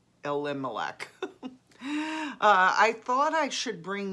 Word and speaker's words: Elimelech: to our relative elimelech i said eli melik yesterday first time and then i was calling just pronouncing it uh elimelech i thought i should